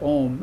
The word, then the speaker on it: Om: and he would say how to pronounce the word word om and if you utter the a that's existence right that's that's the beginning that's creating and you hold the U out for a long time that's that's this uh